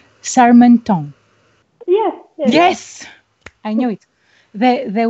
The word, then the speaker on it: Charmetant: I have to pronounce it right. It's a very nice French name. Charmetant.